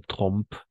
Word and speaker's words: trompent: Savoir que beaucoup de Français trompent, d'accord? Trompent, E-N-T à la fin, non prononciamos, leur tartine, lo he dicho muy bien, dans leur bol de café ou de lait.